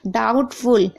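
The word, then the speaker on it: doubtful: चाहिए इतना याद रखिएगा डाउटफुल यहां पर भी आप देख रहे हैं देखिए टी से पहले बी है तो ब साइलेंट है इसी तरह से यहां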